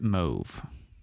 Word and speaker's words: mauve: So, according to Wiktionary, the UK says it mauve to rhyme with stove. And it rhymes with Pavlov in the American way.